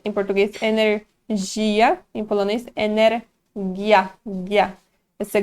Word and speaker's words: energii: Mas a pronúncia é diferente. Em português, energia. Em polonês, energia.